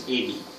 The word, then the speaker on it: Ebi: Though it's spelled with an E, the correct pronunciation is Ebi.